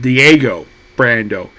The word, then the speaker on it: Diego Brando: And then we introduced to it says on his hat, Dio, but his name is pronounced Diego Brando.